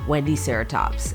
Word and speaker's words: Wendiceratops: But Google says that you say it like this, Wendiceratops, and that was something that I learned.